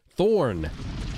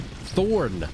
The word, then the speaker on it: Thornton: That's Thornton. Thorn. You gotta get the N in there. Thornton.